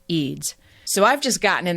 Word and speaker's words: Eds: is spelled Ed DS it looks like EDS but it's actually pronounced eids so I've just gotten